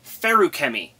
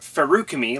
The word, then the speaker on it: Feruchemy: Continuing on with our analysis of the metallic arts, we come to Feruchemy, pronounced like biochem, not Feruchemy like my brain wants it to be.